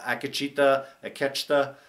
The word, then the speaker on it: Akecheta: I love that Akecheta, that's the proper pronunciation of his name, was the final one to get there, that he was able to get out.